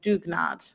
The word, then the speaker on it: dugnad: kind of things uh I'm gonna say it wrong but we have a tradition called dugnad I believe that's how you say it but it's this Norwegian idea because our Founders are Norwegian and it's basically like